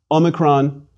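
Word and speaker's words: ὄμικρον: Omicron is a small O, a micro O, which is to say a short O like the O as in ought, but a shorter, a closed O, as in the British pronunciation of pot.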